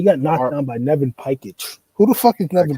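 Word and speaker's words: Pajkić: He got knocked down by Nevin Pikich. Who the fuck is Nevin Pikich? Bro, did you said his name right? You educated then, Chris. Not Pajik, Pikich.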